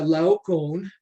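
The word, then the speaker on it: Laocoön: And then Laon uh in case you're wondering how to pronounce that person's name.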